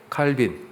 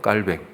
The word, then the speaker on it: 칼뱅: 루터, 또 칼빈, 혹은 원래 발음이 칼뱅이라고 그래요. 칼뱅.